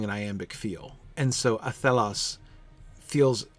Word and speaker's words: Athelas: the beginning of the first syllable, Athelas, come Athelas, come Athelas. It fits very well with the spondaic feel of the early wines, doesn't it?